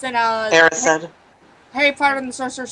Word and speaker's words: Erised: I mean, it's not obvious, is it? It's just desire backwards.